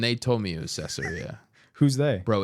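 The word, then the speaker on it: Caesarea: with your sermon okay queseria I think it's cesaria did I say queseria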